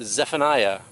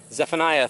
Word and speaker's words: Zephaniah: sometimes difficult to pronounce it's pronounced Zephaniah Zephaniah 3:17 and it says